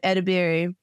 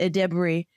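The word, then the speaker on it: Edebiri: about I um um edber um I'm sorry aded debery I used to I used to pronounce her name wrong you guys so now I'm pronouncing it right but ad Dey and that is the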